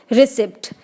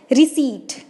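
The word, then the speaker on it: receipt: रिसिप्ट। क्या आपको लगता है कि ये प्रोनाउंसिएशन सही है? रिसिप्ट? नो, इट्स not right pronunciation. इसे हम इंग्लिश में क्या बोलते हैं? रिसीट, नॉट रिसिप्ट।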